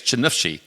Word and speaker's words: Chernihiv: So Sasha and Iryna are currently in Ukraine in a little town, and help me pronounce it correctly, it's Chernihiv, correct?